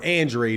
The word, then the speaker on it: Andrade: Andrade is the way that Demetrius Andrade pronounces his name.